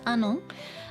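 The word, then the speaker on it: 愛音: Okay, so this is Anon. I know the kanji, you might not be familiar with this combination. It looks like I and on, but it's pronounced Anon.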